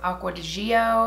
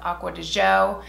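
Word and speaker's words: Acqua di Giò: version of it I always thought it was pronounced aqua geo it's actually pronounced aqua to Joe and this one is aqua de Goya because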